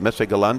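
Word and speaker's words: Messe Berlin: And it gets a little bit of that load off of the main, what do you call it, Messe-Berlin? Is that how you say it? Right, in German.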